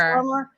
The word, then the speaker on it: Armour: I think it's Armour. I think technically it's Armour. Like Under Armour.